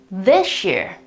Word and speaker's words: this year: The pronunciation they would use is this one here, this year, this year. This is the transcription with International Phonetic Alphabet, so the, another short E, the, because it's this, it's not these, of course. And then the sh sound here, you can recognize it here, and then the diphthong we used before, so the short E and the schwa, in order to pronounce year.